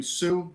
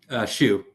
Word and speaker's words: Shu: Finally, we have Ryan Sue. Did I pronounce that correct, sir? Sure, Your Honor, but no problem. Well, no. Well, what's the proper pronunciation, sir? Shu, like Shu.